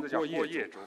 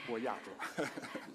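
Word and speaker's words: 郭叶洲: 我的名字叫郭叶洲，不是郭亚洲。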